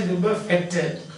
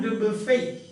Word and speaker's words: Dubuffet: have already seen, Jean Dubuffet. Jean Dubuffet, that's a French name. The last syllable is not pronounced. So don't say Dubuffet, but Jean Dubuffet.